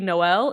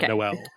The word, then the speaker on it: Noel: It's no, it is Noel. I'm just more used to I guess the American pronunciation of Noel.